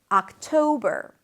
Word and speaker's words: October: Octo, can you hear it? Octo, and then ber. Same ending as in September. October, October. October is my favorite month.